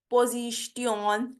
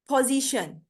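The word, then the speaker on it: position: होता है ठीक है तो यहां पे देखें यह वर्ड है सिचुएशन सिचुएशन पोजीशन traditional स्टेशन ठीक है तो ये शन की आवाज देगा टी आई ओ एन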